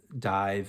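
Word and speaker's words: DIIV: Dive, it's spelled D-I-I-V, and really cool stuff.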